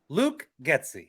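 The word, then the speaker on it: Getsy: who did you say Luke gy no it's pronounced Luke gy Luke gy I'm yet to be impressed by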